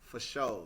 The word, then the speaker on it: fasho: So at Sugar Dunkerton on Twitter, Sugar Dunkerton FASHO pronounced for show.